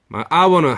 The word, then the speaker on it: hour: 근데 발음이 hour는 1시간이잖아. 그지? 근데 우리의 hour 같잖아. 근데 H가 있잖아요. 그렇지만 H 소리 안 나죠. 발음으로 가야지. an hour 이렇게 하고 우리 장적기님 반갑습니다.